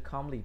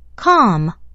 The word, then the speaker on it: calm: 好，往下，25 个就这个就是 calmly，把 ly 拿掉，我们听一下它的发音，calm， calm， calm。